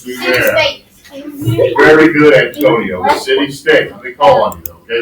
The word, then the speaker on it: Sumer: That's how it's pronounced, Sumer.